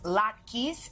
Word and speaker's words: latkes: One holiday dish that is always a crowd pleaser is latkes, and here to share her family recipe.